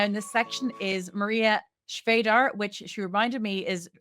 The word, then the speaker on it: Svejdar: final speaker now in this section is Maria Vadar which she reminded me is RM rhymes with Vader as an Darth Vader which really